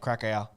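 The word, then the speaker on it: Kraków: Yeah, it's pronounced Krakow.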